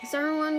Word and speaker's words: Sauron: Sauron was How do you say it again?